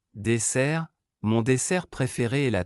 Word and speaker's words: dessert: SS double, prononcé comme S, dessert, mon dessert préféré est la tarte aux pommes.